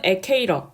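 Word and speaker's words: Ecuador: 또 이거를 스페인어로 읽었을 때는 에콰도르라고 읽힙니다. 영어로는 에케이러, 스페인어로는 에콰도르.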